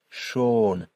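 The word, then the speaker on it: schon: So with the umlout the word is pronounced shern which means beautiful and without the um that word is pronounced sha which means already.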